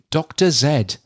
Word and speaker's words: Dr. Zed: Uh this year's celebration will feature a live performance of Hangin with Dr. Zed. I know he's supposed to be pronounced Dr. Z, um but I'm going to call him Dr. Zed.